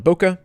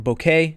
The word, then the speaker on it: bokeh: From basic adjustments, let's turn on Bokeh, or Bokeh, depending upon how you pronounce it.